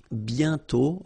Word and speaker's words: bientôt: Remember you put this accent circonflexe but you don't write it. You write it but you don't pronounce it. And then the final T is not pronounced. Bientôt, okay?